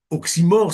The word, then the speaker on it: oxymore: et messieurs est oxyor oxymore ça s'écrit o XY M r oximor est un nom